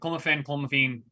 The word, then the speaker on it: clomiphene: Albert Puello tests positive for clomiphene. That correct way to say it? Yeah, clomiphene, yeah.